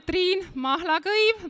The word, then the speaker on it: Triin Mahlakoiv: I'm Triin Mahlakoiv. That's how you pronounce an Estonian name.